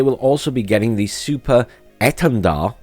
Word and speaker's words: Super Étendard: And they will also be getting the Super Étendard, apparently that's how you pronounce it in French, strike aircraft, superior to